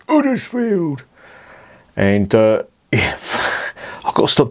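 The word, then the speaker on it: Huddersfield: From Uddersfield. That's how it's pronounced. It's got an H on it, but you don't pronounce the H. It's Uddersfield.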